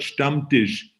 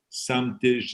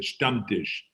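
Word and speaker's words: Stammtisch: a great introduction and you're absolutely right you pronounce the word stump dish the right way which is a lot of people have a problem with that they say some dish and stuff but it is a stump dish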